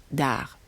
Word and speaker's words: Arz: voilà qu'ils abordent l'île d'ars qui s'écrit à rzd attention on ne prononce pas le z à la fin lille d'art donc concerner aussi les